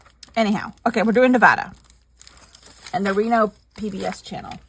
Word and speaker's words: Nevada: living crap out of me when people say Nevada no it's Nevada growing up in California I know how to pronounce Nevada cuz I lived in a town